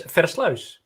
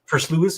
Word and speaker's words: Versluis: name that's always fun my last name is fereslaus but it's probably hard to pronounce for any other person that's not from the netherlands so first lewis is usually how it's pronounced i i i you